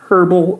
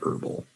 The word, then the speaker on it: herbal: the british say herbal we don't pronounce the h in the united states just herbal you can say it either way herbal or herbal same thing um herbal